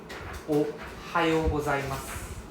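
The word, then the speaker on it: おはようございます: Ohayo gozaimasu. Ohayo gozaimasu. Right, you can see the Y-O-U, that means there's a long O sound.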